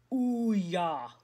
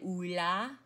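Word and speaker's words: Ulloa: Okay, so if you look at the pronunciation here that they've got in the textbook, it is Ouya. But I say Oula. But I guess Ouya. Well, since they're saying Ouya, I'm going to go with it.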